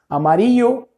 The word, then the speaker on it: amarillo: Pronúncia também interessante aqui da pronúncia do amarelo. Você depende da região que você vai estar, tá? Se você está na Argentina, Uruguai, eles falam como se fosse assim, ó, né? Como se tivesse chiando alguma coisa.